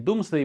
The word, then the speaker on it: Domesday: pari, tanto che il Domesday Book viene ribattezzato Doomsday, sembra la stessa pronuncia ma in realtà è scritto diverso, il libro dell'Apocalisse, e